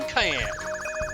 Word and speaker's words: Cayenne: I'm Cayenne. It looks like, but it's actually pronounced like Cayenne the Pepper, or like Cheyenne, Wyoming, but without the H or the Wyoming.